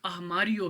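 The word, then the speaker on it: armário: हम अलमारी कहते हैं उर्दू में, पुर्तगीज़ में ये लोग अरमारियो कहते हैं, ठीक है। आर जो है वो हे की आवाज़ निकालता है।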